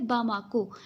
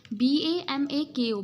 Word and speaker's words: Bamako: बामाको, BAMAKO, बमाको।